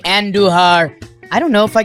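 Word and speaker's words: Andújar: Roll your Rs when you say Andujar.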